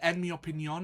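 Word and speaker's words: en mi opinión: would say that uh enmy opinion is a nice simple one that you can remember. Enmy opinion enmy opinion with an accent on the O.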